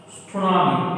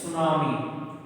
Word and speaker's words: tsunami: T is the silent letter. It's not tsunami. It is a tsunami.